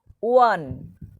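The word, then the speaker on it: one: যেমন ধরো ড্যাশ যেমন ধরো ড্যাশ 1 রুপি কয়েন, দেখো ও আছে বাট ওয়ান, ওয়ান উচ্চারণটা দেখো ও আর মতো হচ্ছে, ওয়ান, ও আর মতো হচ্ছে উচ্চারণটা।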